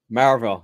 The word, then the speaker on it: Maryville: I'm down in Maryville, so I've learned to say it correctly. So Marvel, yeah, I yeah, know.